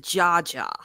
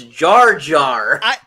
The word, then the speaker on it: Jar Jar: You're the only person I know who pronounces it Jaja. Look, It's Jar Jar.